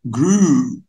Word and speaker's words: grew: grow, grew. الEW تنطق او على طول.